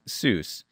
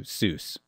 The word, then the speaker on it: Seuss: name is regularly pronounced Seuss which is an angelized pronunciation inconsistent with his German surname and and he actually originally would tell people that his name rhymed with voice so it was actually